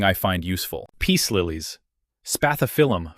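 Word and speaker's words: Spathiphyllum: Peace liies, spathophilm for the record, pronounced spailium, droop visibly and reliably when they need water.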